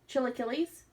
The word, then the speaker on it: Chilaquiles: How do you say that, Wes? My favorite breakfast. Chilaquiles? Mm-hmm. Is that how you say it? Yep.